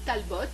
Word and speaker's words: Talbot: son album, donc Connie Talbot, comme ça se prononce, avec un T à la fin, au T.